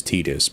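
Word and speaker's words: Tidus: me and I was right it actually is tetus but you got that weird thing going on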